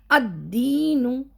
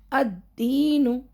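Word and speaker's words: الدين: अदीनु अदीनु हां लाम का प्रोनाउंसिएशन नहीं हुआ। लाम साकिलाना यहां था। हालांकि लिखा नहीं जाता है। कोईकोई इसमें लिखते भी है।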